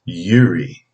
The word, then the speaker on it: Uri: how to pronounce it so it's yuri gary you are i yuri and it is number